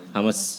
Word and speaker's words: Hummus: Jadi kita ganti nama jadi Humus walaupun tetap pelafalannya itu Hamas ya. Pronounce-nya tetap Hamas.